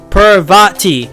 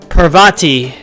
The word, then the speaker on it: Parvati: twisted for correcting me parvati yeah that's how you say it oh yes